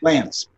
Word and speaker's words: Glantz: I say it right it's glands right Lance just like glancing at a picture glands Lance okay all